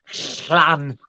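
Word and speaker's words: Llanfair: well I know the first bit is actually because it's Welsh is pronounced plan the middle bit [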